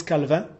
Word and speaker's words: Calvin: Ah, ça se prononce Calvin.